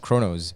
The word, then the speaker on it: Kronos: Did I pronounce it correctly, or is it Kronos? Kronos.